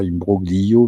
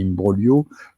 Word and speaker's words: imbroglio: euh c'est liimbrolio liimbrolio ça se prononce comme ça pas imbroglio mais imbrogio petit cours de français